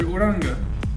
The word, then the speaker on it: Uranga: to class everybody my name is mr uranga uh mr urango is this guys gonna be you can call me mr uranga mr uranga mr coach hey everyone i'm mr odanga i'm gonna be your geometry teacher um i